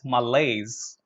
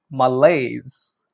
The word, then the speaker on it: malaise: not an ALICE its malaise malaise yeah that all the pronunciation that I'm giving you is uk-based pronunciation British pronunciation because that is considered